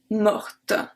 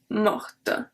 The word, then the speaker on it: morte: Because the last letter of mort is a T, the fact that we add a E at the end makes that we have to pronounce the T.